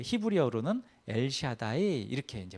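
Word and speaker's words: אל שדי: 하나는 전능의 하나님인데이 전능의 하나님이 그 히브리어로는 엘샤다이 이렇게 이제 발음해요.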